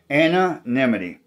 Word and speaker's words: anonymity: a talk about anonymity it's a hard word to pronounce and down the street there's a lady named Mrs nimy and her first name is Anna there you go anonimity thanks tuning in